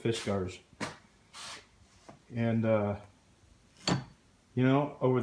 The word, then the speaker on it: Fiskars: of fisgars productss and that's how they pronounce it fisar and uh you know